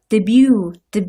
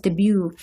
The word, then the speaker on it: debut: debut 이렇게 발음하죠. 두 번째 그 음절의 강세를 받죠? 그래서 debut. 그다음에 witness their 인기, popularity